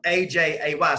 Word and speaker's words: Ajay: And when it comes to India, so my son, his name is AJ, but it's spelled AJAY. So Ajay in India.